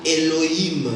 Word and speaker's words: Elohim: Akomi benga Elohim. Dieu va s'appeler, se prononcer Elohim.